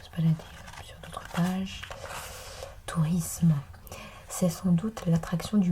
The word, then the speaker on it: tourisme: La seule prononciation correcte est isme. Décomposons un peu plus isme et non isme. Le S se prononce S entre voyelle et une consonne. Ce n'est donc qu'entre deux voyelles qu'il devient Z, qu'il fait le son Z.